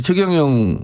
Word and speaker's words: 최경영: 아, 그래도 본인이 원하는 걸 저는 발음을 그렇지 않습니다. 해달라고 그럼 하면. 본인이 원하면 예. 우리 최경영 예.